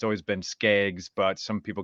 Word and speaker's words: Skaggs: Before we do anything important here, is it Skiggs or Skaggs? Your last name? Skaggs. Skaggs. So I was wrong on both times. I think it's more the Minnesota accent and pronunciation. We always, and I got to catch myself because I always say like bag. Well, it's bag, right?